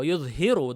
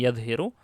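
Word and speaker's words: يُظْهِرُ: Wa yudhiru dha'fahu wa ajzah. Itu bacanya yudhiru, bukan yadhiru. Yudhiru.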